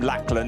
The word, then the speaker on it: Lachlan: There, like Lachlan Robinson, and I was told if I called him Lachlan, he'd punch me. It's spelled like that. It is Lachlan and Oscar Christensen in the ADAC MX Motorsport Porsche, taking that third place.